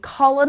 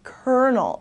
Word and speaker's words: colonel: from the safe okay this one is not pronounced at all like it's spelled you would think it would be Colin alright because of the Elle's it's actually pronounced Colonel okay and a colonel